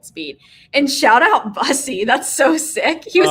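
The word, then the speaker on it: Bussi: Because Caroline for the longest time has always pronounced his name Brandon Busussy. And I'm like, that's not correct. That's not right. That's not how you pronounce it's Brandon Busy.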